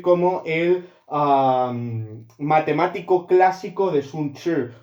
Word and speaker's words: Sun Tzu: Sun Tzu es Sun Tzu, yo hablaba chino antes, se pronuncia Sun Tzu, si no lo tengo muy oxidado, y escribió